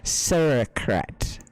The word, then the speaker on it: sauerkraut: It's finely cut okay, it's pronounced sauerkraut.